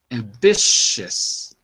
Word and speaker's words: ambitious: ambitious good that's perfect ambitious is ambitious okay so ignore the O and ignore the U they're not even pronounced it's an a sound